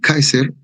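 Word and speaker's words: Caesar: un diptongo ya les dije no entonces se pronunciamos uno solo entonces el Kaiser de ahí viene el el el el el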